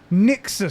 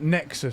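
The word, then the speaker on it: Nixxes: It's Nixus Studios, not Nexus Studios, that PlayStation purchased. And also he said apparently it's pronounced different as well.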